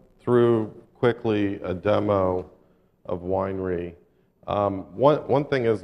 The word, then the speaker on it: Weinre: a nitobe employee pronounced Winer correctly it many I don't actually care in fact my my first real slide is uh is the pronunciation issue like like Winery not like weener but I don't really